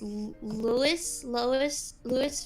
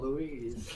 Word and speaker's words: Louise: On Twitch, Who's Your Daddy says Cupcake sounds a lot like, is this Lois from Bob's Burgers, meaning that in an endearing way. Oh, Louise. That's how you pronounce it.